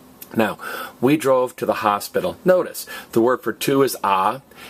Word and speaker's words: hospital: And notice, it's not pronounced hospital, it's pronounced hospital. What is the only silent letter in Spanish? H.